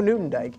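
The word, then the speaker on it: Nieuwendyk: clear oh sorry i should spell that joe newton dyke is spelled n i e u w e n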